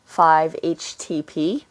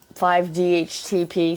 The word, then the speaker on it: 5-HTP: actually say it correctly 5-HTP it's uh because I keep adding the D I'm not sure why um 5D HTP something like that I